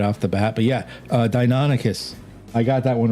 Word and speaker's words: Deinonychus: Like, for instance, the longest time, Deinonychus. For the longest time, I didn't realize how that was pronounced. And I kept pronouncing it Deinonychus.